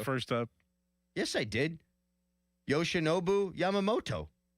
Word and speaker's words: Yoshinobu Yamamoto: Yoshinobu Yamamoto. Mm-hmm. That is correct. Did I not get that right? Not the first time. Yes, I did. Yoshinobu Yamamoto.